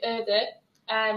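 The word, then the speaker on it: öötöö: I'm not going to embarrass myself by trying to pronounce these words, but Ads, how do you pronounce these words? So the first word would be öde, which means night work.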